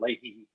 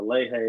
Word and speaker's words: Lehe: We have a winemaker named John Leahy, but we have to say the Lehe because that's how they say it.